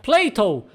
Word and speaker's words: Plato: Mas, em inglês, Platão se pronuncia Plato, que é muito parecido com Play-Doh, aquela marca de massinha.